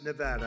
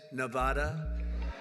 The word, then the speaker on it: Nevada: heard of it and don't ever mispronounce the name you're not allowed to do that show you mispronounce the name you got a problem you ever see somebody when they say it's Nevada Nevada no they're they're in deep